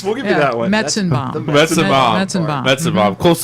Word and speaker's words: Metzenbaum: There's, I don't know how to pronounce it. It starts with Sounds like a Civil War battle, but isn't. like Rosenbaum or something. Oh, nice. We'll give you that one. Metzenbaum.